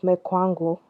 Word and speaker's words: Mechwangu: It's called Mekwangu, and that's spelled as Mechwangu.